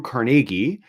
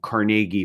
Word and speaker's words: Carnegie: his name was uh with the emphasis on the second syllable so carnegi is how Andrew Carnegie pronounced his name so